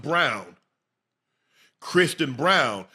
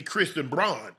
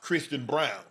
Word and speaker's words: Christian Braun: N, but it's pronounced Brown. Christian Brown. It's spelled it looks like it should be Christian Braun, right? But it's pronounced Christian Brown.